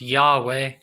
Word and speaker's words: Yahweh: water error in earth y hwh he pronounced yahweh that's number four but